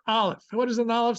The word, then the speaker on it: Aleph: The letter Aleph. What does an Aleph sound like? Just have fun. We don't pronounce it at all. It's treated as a silent letter.